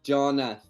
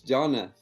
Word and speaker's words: Jonnath: Like we don't have that in Brazil, but in English countries, people who speaks English, we say John, like the th is like, right. So it's thank you, like Jonnath.